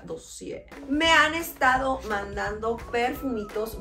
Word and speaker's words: Dossier: Que ya vi cómo se pronuncia, me salió por ahí un TikTok. Se pronuncia Dossier.